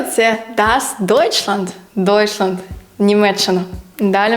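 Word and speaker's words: Deutschland: звук ч і найяскравіший приклад - це das deutchland deutchland Німеччина далі в нас ідуть дві буквисполуки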